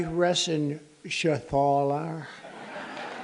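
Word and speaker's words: Reschenthaler: John David Joyce David thank you and Guy Ren Shaler you know that rener he's uh that's actually the way you pronounce it you know nobody else gets it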